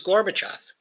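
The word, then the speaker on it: Gorbachev: little vignette that lights things up a little gorbachov came in okay now the name is gorbachov that's the way you pronounce it I won't go through the orthography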